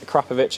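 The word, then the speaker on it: Akrapovič: Yes, it's pronounced Akrapovic, a lot of people say Akrapovic is how you pronounce it.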